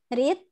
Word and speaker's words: read: I read. So it's a bit different when you pronounce it. Not read anymore, but read.